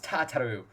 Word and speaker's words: Tataru: game oh i should also introduce you to tataru o'clock i pronounced that correctly everything runs smoothly it was tataru that's also more or less what i expected